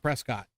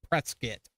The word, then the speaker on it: Prescott: Prescott Arizona it's not Prescott it's presc is but if you listen to anybody up there it's web yeah Prescott it is spelled Prescott and they call it pretz skit um snobby people I